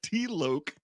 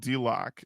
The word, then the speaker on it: D-Loke: And apparently we mispronounced all of their names when we did them on the show. In particular, D-Loke. D-Loke, who we called D-Lock.